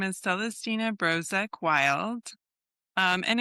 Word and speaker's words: Brozek-Wild: So, my name is Celestina Brozek Wild. Um, and it's okay to mispronounce it.